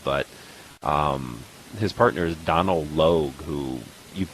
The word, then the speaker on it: Logue: He's nothing remarkable, but his partner is Donald Logue, who you Loge. recognize his face. Huh? Loge. Oh, okay. Well, I always Yeah.